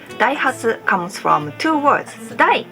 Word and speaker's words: Daihatsu: not so sure how people in those countries pronounce this brand but in Japan we call them Daihatsu their name Daihatsu comes from two words they comes from Osaka